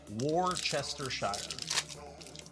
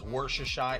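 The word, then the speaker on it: Worcestershire: Warchester Shire.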